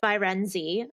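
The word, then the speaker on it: Firenze: i wasn't even anywhere near right um it's virenzi um and it is italian for the city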